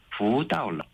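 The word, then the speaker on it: 福到了: 복이 거꾸로 되어 있다라는 발음은 부다올러, 또 복이 온다라는 발음도 부다올러. 이렇게 똑같은데요? 발음이 똑같아서 네.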